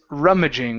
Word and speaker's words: rummaging: And here, the word is rummaging with the stress at the beginning.